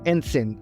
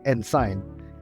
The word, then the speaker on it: ensign: and sign just kidding and sin and sign is pronounced as Ensign not Ensign I really enjoyed the